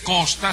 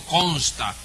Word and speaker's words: consta: contrario en segundo lugar no se dice cona sino consta con n consta de qué